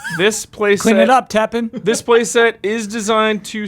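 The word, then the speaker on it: Tappan: Teppan means top. This is T-A-P-P-A-N, so it's spelled differently. Oh, okay. Teppan. Like if you were to tap a pan.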